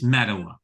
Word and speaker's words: Mettawa: Costco in Mettawa, and my wife and daughters say it's Metawa. What's the story? Metawa. You're right, Metawa? Joe. Yep. Okay. I got it right. I think if you're not, well, how do you say this right? Probably if you're not from the village, then you say it Mettawa real fast, right?